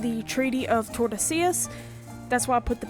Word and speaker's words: Tordesillas: And finally, on June 7th, Spain and Portugal signed the Treaty of Tordesillas, which divides the New World between the two countries. It's actually pronounced the Treaty of Tordesillas.